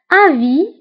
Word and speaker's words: avis: Avis, avis, ra'i. Avis. هنا أيضا avis كنكتبوها بس آخر الكلمة ولكن لا تنطق.